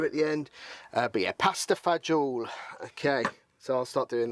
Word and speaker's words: pasta fagioli: We call it pasta fagioli, or pasta fagioli, if you want to say it properly.